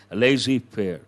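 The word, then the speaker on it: laissez-faire: the return to lazy prayer how do you pronounce it lazy fair it means open economy one meaning no restrictions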